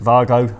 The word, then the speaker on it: WAGO: a different series of Vargo connectors. Vargo. Yeah, I I've watched your videos. I'm an expert on how it's pronounced. Now, we know in Germany they pronounce it Vargo.